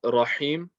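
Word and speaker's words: الرحيم: The ha in Rahim, I notice, is a bit more difficult than the ha in Rahman.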